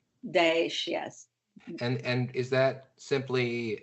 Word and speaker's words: Daesh: to ISIS as, I'm not sure how to pronounce it, Daesh? Daesh, yes.